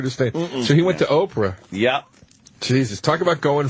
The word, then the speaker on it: Oprah: Now, that's a funny pronunciation of Oprah, is what you're Yes, saying. yes. Okay, now I got you. Ofra. People used to actually call her Ofra.